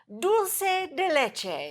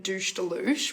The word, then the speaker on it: dulce de leche: Dulce de leche.